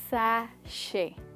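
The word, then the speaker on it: sachet: ध्यान से देखिए, इसको कहा जाता है दोस्तों सैशे। वंस अगेन दोस्तों, बूफे की तरह इस वर्ड में भी जो लास्ट का टी है वो नहीं बोला जाता है और हम कहते हैं सैशे।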